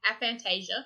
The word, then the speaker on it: aphantasia: Apparently it's called aphantasia when you can't see things. It's spelled with a PH and an That's F.